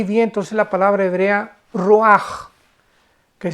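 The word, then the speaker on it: רוח: Y encuentra ahí, ¿verdad?, que cuatro espíritus, porque la palabra aquí vientos es la palabra hebrea ruaj, que se escribe r u a c h, ruach, pero se pronuncia ruaj.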